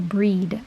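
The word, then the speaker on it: Brigid: have different spellings for the goddess bridget or breed i believe is how it's pronounced in the original celtic so those are just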